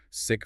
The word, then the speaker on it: sick: Take slip and sleep and sick and seek. The difference here is entirely about mouth tension and the duration of the vowel.